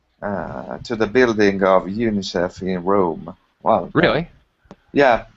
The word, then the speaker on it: UNICEF: right unicef yes um no one but no one says u-n-i-c-e-f no one does that everyone pronounces it so yeah unicef uh yes